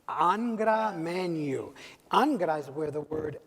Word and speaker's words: Angra Mainyu: Did I pronounce that properly? Angra Mainyu. Angra Mainyu.